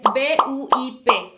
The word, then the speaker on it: buip: vas a hacer la siguiente escala con la sílaba buip. Es B-U-I-P, buip.